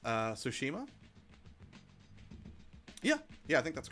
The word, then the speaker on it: Tsushima: Apparently, it's pronounced Tsushima.